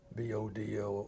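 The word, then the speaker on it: Bodø: The wing commander at Bodo, the Norwegian general had a back story that he was a first lieutenant fighter pilot at at um this pronounced Bodo. It's spelled b o d o o with a line through it.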